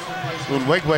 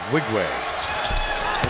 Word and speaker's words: Nwigwe: And Unwigwe is back on now. That's spelled N-W-I-G-W-E. Unwigwe.